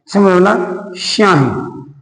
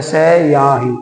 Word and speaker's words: स्याही: कुछ बोलेगा जैसे हेलो स्याही अ स याही इसे ई थोड़ी बोलोगे स्याही बोलेगा तो स याही है ना स्याही बोला है पूरा सेक हो जाना